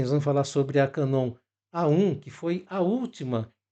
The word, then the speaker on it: Canon: porque muita gente fala tem uma polêmica pessoa falar Canon Canon e a pronúncia na verdade é Canon porque ela surgiu com esse nome ou não em 1934